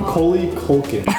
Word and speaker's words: Macaulay Culkin: Macaulay Culkin. Yo, I'm so sorry I butchered that.